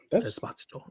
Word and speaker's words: Esposito: of Gian saying like the whole time he's been saying Esposito because it was easier for people to pronounce it that way. But he's like, I'm not doing that no more. Just pronounce my name the right way.